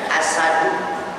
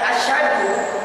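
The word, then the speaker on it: أشهد: Tapi berapa banyak kita yang mengucapkannya dientengkan, diringankan asadu. Ketika membacanya asadu maka punya arti singa. Pun ketika kita membacanya asyadu, benar syak di tengahnya, maka mempunyai arti lebih berat.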